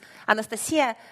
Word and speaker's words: Anastasiia: When I introduce myself in English, I usually say that my name is Anastasiia, and they pronounce it like nice to see you.